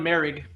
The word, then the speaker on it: Moehrig: I'm gonna help you pronounce this next one. Trevon Moehrig. Trayvon Merrig.